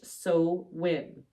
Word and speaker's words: Samhain: holiday is Samhain, which is Halloween, but it's spelled Samhain, but pronounced So- Irish Samhain.